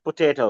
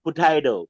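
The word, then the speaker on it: potato: Sweet পোটাইডো, পোটাইডো। হ্যাঁ, এটা যে ইউএসএ তে জাস্ট পোটাইডো উচ্চারণ করবা, ইংলিশে জাস্ট পোটেটো। ইংল্যান্ডে ইয়েস। পোটেটো, হ্যাঁ, আর মানে ইউএসএ তে পোটাইডো।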